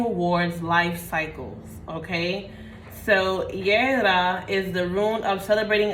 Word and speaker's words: Jera: Jera, which means harvest, right? Let's see. Okay, it's actually Yera.